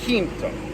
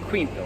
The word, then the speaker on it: Quinto: Spanish, and of course the word for fifth is identical except the pronunciation, in which point when I look at this title, sometimes I struggle not to say Ricercare Quinto, which is how it would be in Spanish, rather than Quinto, which is the Italian.